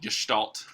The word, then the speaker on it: Gestalt: It's called Gestalt. That's how you pronounce it. It's a fun little German word.